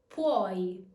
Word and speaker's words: puoi: Remember to pronounce the E as a Y and the U as a W. Puoi, puoi.